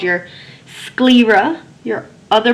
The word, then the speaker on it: sclera: that with me Libra now this noun has two syllables first syllable is squee